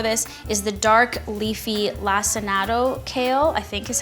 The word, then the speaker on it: lacinato: And so the best kale for this is the dark leafy lacinato kale, I think is how you pronounce it, as opposed to the ruffled sort of green leafy kale.